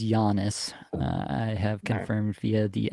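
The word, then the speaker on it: Janis: It is Giannis.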